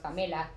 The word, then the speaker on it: Pamela: And our names kind of sound the same, because my name in Mexico is pronounced Pamela.